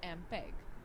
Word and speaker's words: MPEG: listen the songs students note the fact mpeg pronounced as mpeg stands for moving picture experts group mpeg-7 the